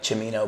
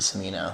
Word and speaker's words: Cimino: correct it like Italian style would be like chimino but like I pronounce it Sino okay so it's fine yeah you can yeah